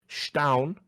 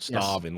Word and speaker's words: Staun: Staun, as I'm told it's pronounced, not starving, like we've been calling starving Marvin for fucking 2 years.